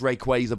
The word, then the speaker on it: Rayquaza: wires are going and I know it is pronounced Rayquaza but like you get it going in a